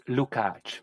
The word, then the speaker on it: Lukács: It's Lukács, like you catch a ball.